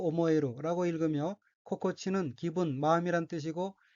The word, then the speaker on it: 心地: 코코치 또 오모에루라고 읽으며 코코치는 기분, 마음이란 뜻이고 이 또 오모에루는 좋다고 생각되다 라는 의미입니다. 참고로 코코치가 복합어의 뒷부분에 오는 경우에는 코가 타금이 되어 고로 발음합니다.